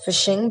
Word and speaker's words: phishing: want to learn about is about phishing be pronounced it as phishing but the spelling for it is pH I